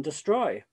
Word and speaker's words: destroy: The next thing is how to pronounce the E in destroy. Is it I, or schwa, Quite destroy. I wouldn't go quite destroy.